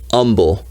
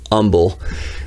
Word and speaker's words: Humble: if you're from houston if you're from texas you know to pronounce it humble no h just humble but that's where that's